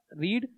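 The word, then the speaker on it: read: फिर नेक्स्ट है हमारा रीड रीड की सेकंड फॉर्म रेड बोलते हैं स्पेलिंग से रहती है ठीक है तो आई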